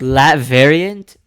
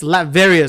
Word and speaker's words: Latveria: So kind of like one of those like Lat variant. Latvarian. Is that a mix of Latin and variant? It's a real place? Latvia. No. It's Latveria.